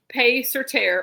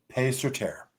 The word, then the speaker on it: Paix Sur Terre: Keri, can you help us pronounce this so we get it right the first time? Yes, absolutely. It's Paix Sur Terre, or Peace on Earth in Latin. Paix Sur Terre.